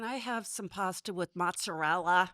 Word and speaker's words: mozzarella: raised her kids in Cleveland, and she said, "Can you please pronounce it correctly? It's mozzarella ricotta."